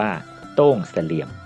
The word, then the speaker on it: ทุ่งเสลี่ยม: สู่ อารยธรรม ล้าน นา ทุ่งเสลี่ยม คน พื้น บ้าน ออก เสียง ว่า โต้ง เสลี่ยม ที่ เป็น ภาษา ล้าน นา หมาย ถึง ทุ่งสะเดา อ.เมือง